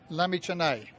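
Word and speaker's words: Lamichhane: And Lami Chennai beautifully said but Mr.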